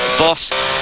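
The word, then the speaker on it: Baas: Boss, apparently the way you pronounce the American's name, B-A-A-S, but pronounced Boss.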